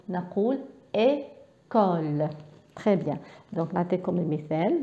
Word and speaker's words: école: لما نحط هاد لاكسون ايغو فوق الاو يعطيني صوت اي. ليس صوت اي، يعني هو ليس منغلق، هو مفتوح اي.